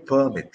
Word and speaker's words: permit: syllable it's a no if you stress it on the second it's a verb okay so this is